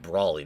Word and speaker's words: Braley: can be said about Matt Braley, the creator of Amphibia, I think it's pronounced Matt Brawley now.